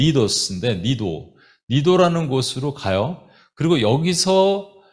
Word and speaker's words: Cnidus: 거기서 여기 보면은 CNIDUS인데 영어로는 이게 C가 묵음이에요. 그러니까 니도스인데 니도라는 곳으로 가요.